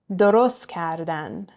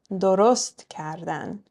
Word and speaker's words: درست: درست کردن, right? We're stressing the last syllable of درست. درست کردن.